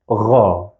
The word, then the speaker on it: غ: We pronounce it as Ra. Ra. It's equivalent to the French R if you're familiar with French. And this sound is also in German.